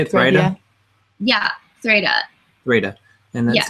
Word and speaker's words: Threyda: Yeah, Threda. Threda. And that's spelled Threyda.